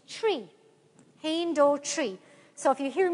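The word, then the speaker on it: trí: She blessed me with you guys say three, and we say tree in Irish. The Irish or Gaelic word for three, which you say with very nice pronunciation, is tree.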